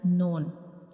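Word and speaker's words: نون: The noon is pronounced when we touch the tip of tongue to the gums behind up front two teeth.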